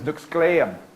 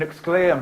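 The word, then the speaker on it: nəxʷsƛ̕ay̓əm: But like a lot of Native names, that's a mispronunciation by the English speakers. My tribe's name is Nuxkleam, and Nuxkleim means strong people.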